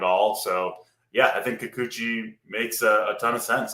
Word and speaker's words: Kikuchi: I obviously misspoke. It's Kikuchi.